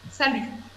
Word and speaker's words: salut: prononce pas le thé à lui on ne prononce pas le thé salut oui c'est très bien ça lui quel autre